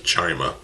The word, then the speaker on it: Chima: 2013 we got Legends of Chima, or Chima, however you pronounce it. I pronounce this as Chima.